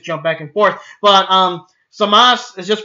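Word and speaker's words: Zamasu: Super, I did say Samasu because the fucking dub is getting in my head now. But it's just Samas. There's lots of words that end in the U. The U is not really pronounced.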